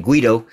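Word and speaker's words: Guaidó: One of these damn puppets that one of my other subscribers, put me up on how to correctly pronounce his name, Guido.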